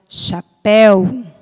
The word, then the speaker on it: chapéu: Como exemplo, a palavra chapéu, né? O péu é a sílaba forte, então essa palavra é oxítona.